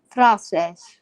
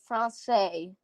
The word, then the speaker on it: Français: Français, apparently.